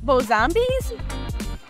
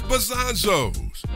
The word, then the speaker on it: Bazonzoes: Bazonzoes? Bazonzoes. How do you say it? Bozombies? Bazonzoes. Nah, it's Bazonzoes, or as we pronounce it, the OG dispensary of your dreams.